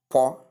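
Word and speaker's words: portent: In the first word we have po. In the second word we have poor.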